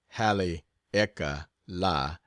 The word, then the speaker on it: Haleakala: As soon as I get back from Haleakala, pronounced Hale-eka-la, I will sail for Honolulu again, and thence